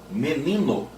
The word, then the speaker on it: menino: Menino, substantivo. E olha que interessante, menino tem três sílabas e a sílaba tônica é a segunda de trás para frente.